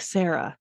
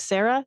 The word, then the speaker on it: Sarra: up pronouncing this name I'll just say it like Sarah that's just gonna flow for me I don't have this